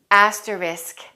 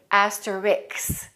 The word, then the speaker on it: asterisk: let's pronounce that word asterisk pay attention to that s k ending asterisk a common mistake is for people to say asterix don't say that make sure you say asterisk an asterisk is a